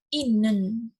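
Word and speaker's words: 있는: nangis dan juga tapi harusnya yang lebih tepat lagi dibacanya menjadi inneun ya kalau ada huruf-huruf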